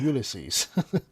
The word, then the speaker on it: Ulysses: Useless pretty much sums you up. Actually, it's pronounced Ulysses.